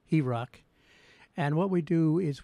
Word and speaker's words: HROC: Well, our main program is called Healing and Rebuilding Our Communities, HROC, which we pronounce as HEROC.